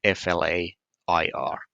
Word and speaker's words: flair: FLARE, meaning to shine bright, and that sounds exactly the same as innate talent. FLAIR.